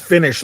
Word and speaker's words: Finnish: So it's actually pronounced Finnish like finish, game over.